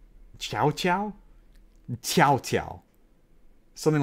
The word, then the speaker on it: Cao Cao: is the best name it's actually not even pronounced Cao Cao that's how they pronounced it in the games it's actually for as I understand it's closer to the South's ow did Chou Chou something like that tchau tchau tchau tchau